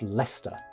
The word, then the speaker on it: Leicester: century building in the city of leicester england for those watching only with subtitles that's pronounced lester don't ask construction started in 1709 and was completed in 1713.